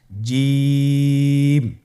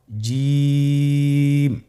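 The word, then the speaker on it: جيم: জিম হরফটি বারিক হরফ, এটা উচ্চারণ করতে হবে তিন আলিফ টেনে। দেখুন আমি কিভাবে উচ্চারণ করছি, আপনারা আমার সাথে করুন জিম। মাশাআল্লাহ, আবার বলুন জিম।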